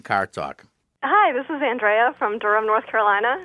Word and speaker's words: Andrea: Hi, this is Andrea from Durham, North Carolina. Andrea, not Andrea. No, it's Andrea. That's the Italian pronunciation.